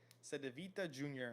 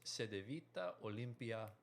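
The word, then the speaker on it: Cedevita Olimpija: played for KK Sedvita Jr. in Croatia. You definitely butcher the crap out of that. Okay, it's it's Sedita Olympia.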